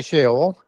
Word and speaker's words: Sheol: I I I generally say Sheol, and I try and recognize the W that would be in part of the the sounding behind the O.